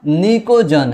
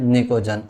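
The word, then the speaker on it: pnictogen: निकोजन। है ना? यहां पर पी साइलेंट है। ध्यान रखना। तो ये नाइट्रोजन फैमिली का जो दूसरा नाम है वो क्या है? निकोजन।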